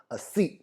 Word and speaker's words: así: Pronunciation अस्सी नहीं होगा, अस्सी। क्या होगा? अस्सी। आई के ऊपर ज़्यादा स्ट्रेस देंगे, तो आपको भी साथ में बोलना है अस्सी।